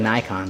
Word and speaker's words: Nikon: No, you gotta go with Nikon. They've just been around the longest. Actually, it's pronounced Nikon.